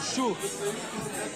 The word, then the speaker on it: Sjoerd: I had a friend named Shuf. And so how do you spell it?